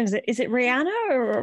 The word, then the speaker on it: Rhaenyra: Is it Rihanna or Rhaenyra? Rhaenyra, yeah.